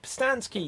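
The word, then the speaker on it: Pustansky: um and for myself my name is david postansky you can find me on facebook instagram and twitter at david postansky which is spelled p-u-s-t-a-n-s-k-y and you can also get a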